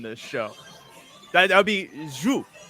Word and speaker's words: sju: Yeah, it's not too far off. Honestly, it's a weird sound for Americans to make in the English language. It's like who? Thomas, you probably pronounce it a little differently, right? Like, we say it more like shoe.